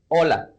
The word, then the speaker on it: hola: That's because in Spanish the H doesn't have a sound.